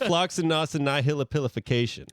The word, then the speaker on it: floccinaucinihilipilification: All right, we got Floccinaucinihilipilification. I could say it like butter. No. Floccinaucinihilipilification. Close. Woo! Yeah, You that was give pretty it a good. shot. I'm gonna let you finish. Floccinaucinihilipilification.